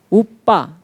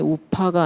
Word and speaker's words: 우파니샤드: 우빠, 정확한 발음이 우파가 아니고 우빠인데, 우빠 가까이, 니 다가가, 샷 앉다라는 뜻입니다.